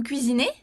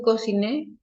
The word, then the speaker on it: cuisinez: Si tot, vous cuisinez. Ah, vous cuisinez? Vous cuisinez. Cuisinez. Vous Oui, cuisinez. exactement. Ok, très bien. Tu ne prononces pas la lettre Z, T.